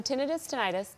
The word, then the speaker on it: tinnitus: So tinnitus, both pronunciations are correct, is the presence of sound when it's not there in your environment.